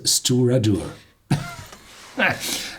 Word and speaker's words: Stiùireadair: incredible long Gallic name but fortunately the Pradhan pronounces as steward or not and that means the helmsman the people at